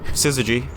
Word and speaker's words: Syzygy: Syzygy.